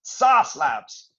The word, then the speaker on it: Sauce Labs: t-shirt right this is sauce labs i can't even say it properly i have to say it in an american accent and i'm british so it's hard sass sas labs um is a is